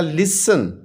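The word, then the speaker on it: listen: इसे प्रणाम नहीं करना हम इसमें सिटी को साइलेंट करेंगे तो यह बन जाएगा लिसन ठीक है लिखते हुए हमने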